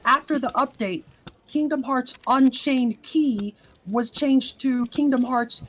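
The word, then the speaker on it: Unchained χ: Because it used to be pronounced key, but now it's pronounced cross.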